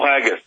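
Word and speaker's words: Haggis: often chilling eye opener hope I'm pronouncing that Paul haggus I think I'm pronouncing that right uh Mr Miller it is it's Paul haggus fantastic uh listen so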